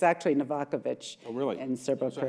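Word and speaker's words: Novaković: It's actually Novakovic. Oh, really? In Serbo-Croatian. So how many people pronounce it correctly?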